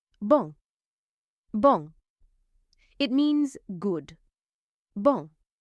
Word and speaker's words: bon: Bong. Bong. It means good. Bong. The N on the end is a nasal sound.